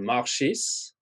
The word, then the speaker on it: Marchis: My asteroid, I have an asteroid name after me called Marchis, because that's the way we say my name.